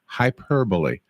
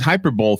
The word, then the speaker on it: hyperbole: Do you know what word I used to pronounce wrong all the time? And there's more than one of these examples, but the one that comes to mind is hyperbole. Mhm. It was hyperbole forever.